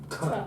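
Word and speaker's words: θ: Tuh.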